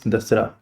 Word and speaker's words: Dasara: talk about the Shera celebrations say it rights dasara right so yeah take part to take part